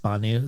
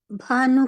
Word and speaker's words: Bhanu: my mother's capil pronunciation it's hard to pronounce my first name because our mouths or our soft tissue form didn't form around BH sound so it sounds like P when we as English